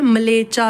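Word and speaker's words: म्लेच्छ: हुई है ठीक है लेचा लिखा हुआ है लेचा नहीं है मलेचा है ठीक है मलेचा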